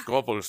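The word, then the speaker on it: Goebbels: No, his name is not Gobel. It's Gobles, man.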